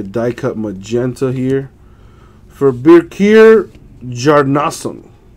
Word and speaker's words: Birkir Bjarnason: For Birkir Bjarnason. I know the B is silent.